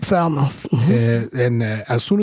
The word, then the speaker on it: Falmouth: i'm pronouncing it wrong is it foul mouth yep falmouth yeah and uh as